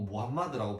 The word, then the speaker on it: 무함마드: 근데 지금은 꾸란 그리고 무함마드라고 부르죠. 꾸란은 114장 6209절인데 이 이슬람계에 의하면 대천사 가브리엘이 그 무함마드에게 이렇게 글을 보여주면서 자 읽어라 그렇게 했대요.